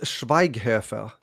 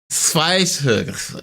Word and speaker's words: Schweighöfer: Aha, Matthias Schweighöfer. Schweighöfer.